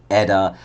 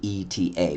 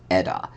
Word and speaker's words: ETA: It's the 2892, and then you do pronounce it ETA. I do watch people give reviews on watches. They always say ETA, but no, it's pronounced ETA.